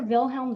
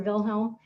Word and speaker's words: Wilhelm: time we have kaiser wilhelm the second and w's in german are actually pronounced like a v so we'll be talking today a lot about the weimar republic and kaiser wilhelm he inherited the throne